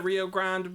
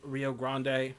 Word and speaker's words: Rio Grande: that this is the Rio Grand but like or Rio Grande however you want to pronounce it if you're English or Anglo it doesn't say Ariana